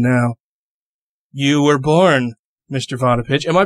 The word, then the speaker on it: Vodopich: Potter pitch am i pronouncing that right yes you are is about